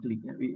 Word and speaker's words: Qlik: like you leak click qlik sounds click the pronunciation is click and then some other